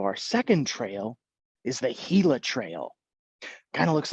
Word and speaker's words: Gila: So our second trail is the Gila Trail. Kind of looks like Gila, but it is pronounced Gila.